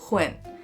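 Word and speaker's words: Nguyen: pronounce your last name it's actually pronounced Hawkwind so win cuz I like to win hi everyone here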